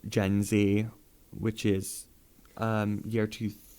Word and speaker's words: Gen Z: who do not like gen z which is um year two 1996 up till 2012. is that gen z is there yeah or in like the uk gen zed by pronounce it gen z um i the